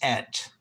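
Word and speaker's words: את: And the word itself is et, or it's pronounced et.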